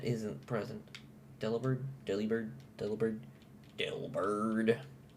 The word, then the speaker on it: Delibird: Delibird. Say it like Dilbert.